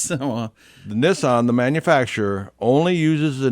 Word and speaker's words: Nissan: on their vehicles really because in japanese the 2 is pronounced 9 and 3 is pronounced sen so therefore nice oh it's nissan and their son yeah